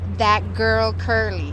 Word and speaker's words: Dat Gurl Curly: you know this but i've always gotten your name wrong and people people have told me it's that girl curly and i'm like yeah